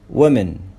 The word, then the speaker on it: women: كمان هنا الساوند أو، في الأمريكان بنقول women women، بننطقه كأنه إيه و women.